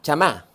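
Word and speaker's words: שמע: en su mayoría es la palabra chamá s a m a asento o sea as se pronuncia no que se escriba así ch ahora como no sé si me pide algún judío pronunci claro y se echa ceniza pero es como más o menos suena claro es para nosotros así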